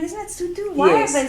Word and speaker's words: Sotho: Yes, I was like, isn't it Sutu? Why have they spelled it like No, that's how it's spelled. Is it? Yeah, but it's I think an O Sutu. sounds like an ooh in Because I was gonna